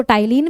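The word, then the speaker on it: ptyalin: और किसकी मदद से करता है, तो सलाइवा में सलाइवरी अमाइलेज प्रेजेंट होता है, जिसको टाइलिन भी कहते हैं, पी साइलेंट होता है यहाँ पे।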